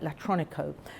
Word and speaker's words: Latronico: I've got to say it right, Latronico.